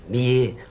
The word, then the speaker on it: billet: Billet. Comprends pas, billet. Avec un « et » ouvert, comme muguet, poulet.